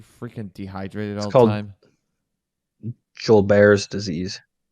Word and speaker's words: Gilbert's: dehydrated all the time Joel Bears disease it's spelled Gilbert's but it's pronounced Joel Bears huh yeah real sad